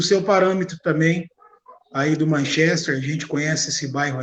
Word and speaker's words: Manchester: A pronúncia certa não é Manchester, é Manchester. Manchester United.